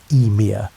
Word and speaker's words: Ymir: The first being to emerge from the ice was Ymir, pronounced Ymir, and he was a giant.